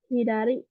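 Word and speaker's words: 左: Hidari yang artinya kiri ya. Kiri. Untuk cara bacanya ini ada dua ya, hidari dan sa.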